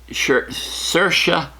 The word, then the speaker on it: Saoirse: For Best Actress, Cynthia Erivo in Harriet, Scarlett Johansson in Marriage Story, Saoirse Ronan, rhymes with inertia, Saoirse Ronan in Little Women, Charlize Theron in Bombshell, and Renee Zellweger in Judy.